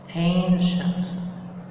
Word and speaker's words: ancient: تمام، بعد كده كلمة start finish دي بس ده فعل، خلينا modern يعني حديث أو جديد يعني، عكسها ancient ancient دي نطق شين، ancient يعني عتيق أو قديم.